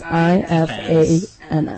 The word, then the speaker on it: Ifans: And then the last name is I-F-A-N-S. I think it's Ifans. I think it's pronounced Ifans.